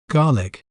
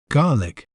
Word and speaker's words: garlic: say its name correctly in British accent we may pronounce it as garlic garlic G lick without the sound of letter r in between garlic while in American accent we may pronounce it as garlic garlic G lick including the sound of letter ARA in between garlic isn't